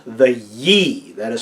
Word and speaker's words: Yi: So we're going to look at this time around the aspect of you called the Yi. That is spelled Y-I in pinyin, or that's that weird